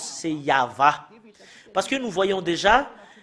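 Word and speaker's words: יהוה: Yod, He, Vav, He, c'est ça qu'on le prononce, c'est Yahva.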